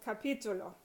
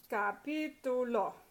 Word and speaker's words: capítulo: So for example, capítulo, chapter. So it's capítulo, capítulo, and you've got ítulo. The last 3 syllables, the third to the last is stressed, capítulo. So that third to last one is stressed, so you have to